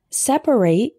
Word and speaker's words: separate: for men and women separate with three syllables is a verb referring to the action